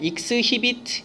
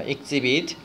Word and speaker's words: exhibit: 자, 발음 조심해야 돼. exhibit 이러시면 안 되고 exhibit라고 발음이 됩니다. exhibit.